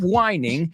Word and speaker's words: whining: De hecho, algo que decimos como la palabra wine suena como vino, o sea, es vino con una H muda.